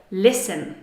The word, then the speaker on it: listen: So the word in today's lesson that contains a silent T is the word listen.